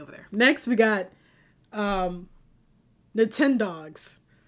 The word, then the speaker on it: Nintendogs: Next, we got Nintendogs. Apparently I've been mispronouncing it. I always called it Nintendo Dogs because here's the thing about me.